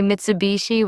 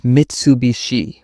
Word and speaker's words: Mitsubishi: I notice people say Mitsubishi with stress on shy. It's Mitsubishi with even clarity.